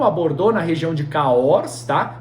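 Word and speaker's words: Cahors: acordou na região de cahos tá se escreve ch o RS carros né e ali é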